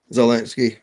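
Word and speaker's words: Zelensky: how you say it, Zalinsky Z uh Zalinski.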